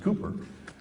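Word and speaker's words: Cowper: uh uh it's spelled cper but it's actually pronounced Cooper said he works in mysterious ways his wonders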